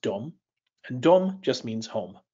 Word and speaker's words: dom: for house it's pronounced Dom and Dom just means home or house dumb now Dom kind of sounds like the English word Dome so imagine a dome